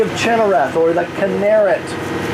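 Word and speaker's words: Kinneret: china wrath or as it's called in hebrew canarits that's what you'll hear it pronounced later today the canarit and and the china wrath or canarit means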